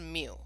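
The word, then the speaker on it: μ: bar and then under parameter it's that that mu symbol so it's pronounced mu but it looks like that thing on the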